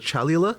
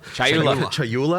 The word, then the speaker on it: Chayula: So the acolyte of, and I always get this name wrong. The acolyte of is it Chalula? Chayula.